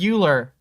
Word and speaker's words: Euler: the english called euler but in germany we always called him euler because i mean that makes his name well yeah hey it makes sense uh i i just probably fairly few american people pronounce it correctly so i don't think i would have heard it like that yeah it's something with